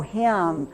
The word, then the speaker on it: hymn: Oh my gosh, why do we have this silent letter? What's a silent letter? Yeah, before we show yours, but I'm glad you showed it, but can anybody just think of a word where the N comes out of the closet? Hymnal. Hymnal. Yay. Is that what you're going to say, Molly? Yeah. Hymnal.